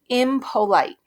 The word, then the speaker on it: impolite: Impolite. Impolite. I definitely hear O.